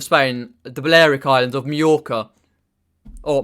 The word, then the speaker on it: Majorca: the balearic islands of majorca or myorco if you pronounce it because the j is silent lucky marijuana is silent